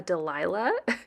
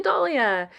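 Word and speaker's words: dahlia: So, I had to do a voice over for this part because I totally butchered the name of the flower. I called it a delila when it's actually a dalia.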